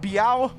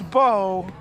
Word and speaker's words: Bo: I haven't been around the leagues, but I noticed this fella, is it Biao? Is that how you say it, Biao? No, it's Bo.